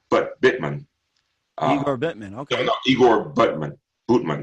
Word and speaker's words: Butman: No, Igor Butman. Butman. It's pronounced Butman.